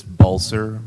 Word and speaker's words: Balsa: a b dumb yes it's it's balsa like ball and yes sir attorney balsa do you know the